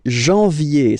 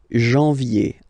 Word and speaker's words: janvier: But anyway, janvier, so that's the way to pronounce it. Janvier, A-N, en, okay? And then ye, janvier.